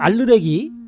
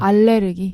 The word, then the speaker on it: 알레르기: 그래서 이런 알르레기 네. 이런 게 과연 그 뭐 1000년 전, 2000년 전에 우리 조상들은 알르레기라는 걸 많이 알았느냐? 알레르기.